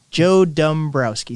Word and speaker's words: Dombrowski: do you say it Joe Dombrowski Joe Dombrowski so it's d.o.m Browski okay okay yeah and